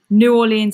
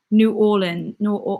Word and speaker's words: New Orleans: I repeat, New Orleans accent, please. New Orleans. How do you say it? New Orleans. Not New Orleans. That's wrong. New Orleans.